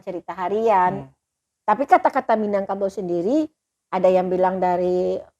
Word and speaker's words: Minangkabau: penelitian kawan-kawan bawa itu orang Portugis menulis Minang Cabo ini saya membacanya sesuai ejaan Ya tapi ini mungkin bahasa Portugis tidak Portugis menyebutkan minyak cabut Tapi namun tetap dibaca Minangkabau mungkin karena zaman dulu